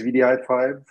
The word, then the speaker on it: wdi5: a look at things so um what is vdi5 um it's an open source tool that has